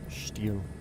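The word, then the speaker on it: Stihl: Steel. Steel is apparently the correct pronunciation of it.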